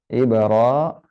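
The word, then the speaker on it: إبراهيم: Bacanya dibaca menjadi apa? Ibrahim.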